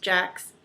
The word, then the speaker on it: Gex: It's spelled G-E-X, but I believe it's pronounced Jax, or Gex, with a J sound.